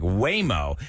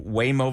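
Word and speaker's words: Waymo: Now, while we're talking about Houston traffic, Whimo is the company behind the self-driving robo taxis in Austin.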